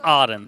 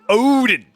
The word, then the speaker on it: Odin: It's Odin. No, it's Aden. No, Odin, because it's not an odd one. Odin. You gotta say it like you're 4, right?